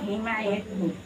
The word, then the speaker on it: হিমায়তপুর: পাবনা হিমায়তপুর, উচ্চারণটা হলো হিমায়তপুর।